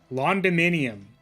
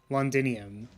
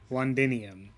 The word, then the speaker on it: Londinium: They're the veins of Londyminium. I think I'm gonna, like, say it correctly today, because it actually tilts me to say it incorrectly. They're the veins of Londinium. Londinium. Londinium.